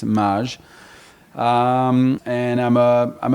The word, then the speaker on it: Mage: uh maj uh or mage uh in america or maggie there's been omaze there's all sorts of ways to pronounce it they're all right but in in french it's maj um and i'm uh